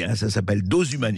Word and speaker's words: Dosumani: Donc, Cécile Maïchak, écoutez, donc Dosumanie, hein, ça s'appelle Dosumanie. Dosumanie, comme ça se prononce, vraiment, il n'y a pas de H, rien.